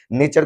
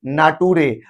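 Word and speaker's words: nature: फुटूरे पढ़ देते थे नेचर को नाटूरे और प्योर को पूरे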